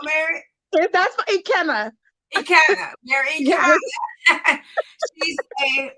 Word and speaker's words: Ekene: Okay, with that being said, tonight we have Mary, and y'all know I'm gonna say her name wrong, right? Ekene, I say it wrong, Mary. That's Ekene. Ekene, Mary Yes.